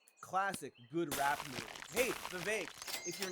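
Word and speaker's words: Vivek: for pum to you my name is V it rhymes with K it ain't about the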